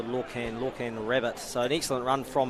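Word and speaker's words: Lorcan Rabbitt: So a big thanks just for that correction. Correct pronunciation there for Lorcan Rabbit.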